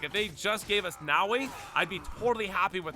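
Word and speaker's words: Naoe: The ninja character Naoi or excuse me, Nawi, my my bad, Ni. People have been people have been uh, you know, making fun of me because I haven't been pronouncing. So, it's Nawi and Yasuke, right? Nawei and Yasuke.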